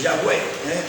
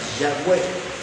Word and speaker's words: Yahweh: Ese es Yahweh. Así pronunciaban la forma fonética más parecida al nombre de Dios es esa, Yahweh.